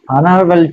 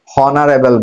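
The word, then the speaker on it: honorable: হি নোস English very well, he is dash অনারেবল to everyone. এবার দেখো অনারেবল, এইচ এর উচ্চারণটা এখানে অনুচ্চারিত, অনারেবল, হনারেবল বলা হচ্ছে না, অনারেবল।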